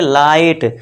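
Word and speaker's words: light: आई से पढ़ें और जीएच हमेशा जो है इसमें दोस्तों देखिए साइलेंट रहेगा, ये ध्यान देना है। अब देखिए इसमें देखिए इसे क्या पढ़ेंगे, लाइट, तो ये जीएच साइलेंट रहेगा।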